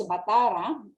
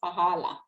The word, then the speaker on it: Batara: The correct name is Batara, but the Chinese pronounce it as Pahala.